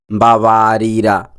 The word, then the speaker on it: Mbabarira: Today's Kirundi word of the day is Mbabarira. Mbabarira. Mbabarira. The meaning of the word Mbabarira is sorry. Mbabarira. Sorry. Mbabarira. The pronunciation of the word Mbabarira can be said as m-ba-ba-REE-ra.